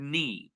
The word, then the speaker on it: knee: But the special rule, if you noticed my pronunciation, I did not pronounce the K in these words. I did not say ki, I said knee. I did not say knife, I said knife. I did not pronounce knight, I said night.